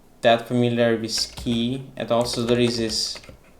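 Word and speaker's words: Kea: not that familiar with key. And also there is this ISC DHCP. And then there is, I don't know how to pronounce it. I think it's key, like C, but maybe I'm wrong.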